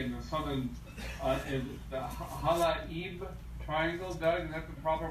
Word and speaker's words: Halaib Triangle: of the area in the southern is the Halaib Triangle. Doug, is that the proper pronunciation?